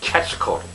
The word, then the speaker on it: Quetzalcoatl: The QU in that word has a hard K sound, which means it comes out sounding, instead of Quetzalcoatl, it's Quetzalcoatl.